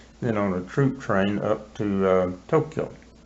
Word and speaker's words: Tokyo: Then on a troop train up to Tokyo. You hear people say Tokyo and Hiroshima. Those are not right. Right. It's Hiroshima and Tokyo. Tokyo. Yeah, Tokyo. 2 syllables.